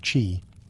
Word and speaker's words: qi: At the heart of acupuncture is the concept of qi, pronounced qi, the life force or energy that flows through the body along invisible channels called meridians.